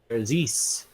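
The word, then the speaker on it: faerzress: No idea how to pronounce that though. There's us. There's us. Yeah. There we go. Is actually Therzis.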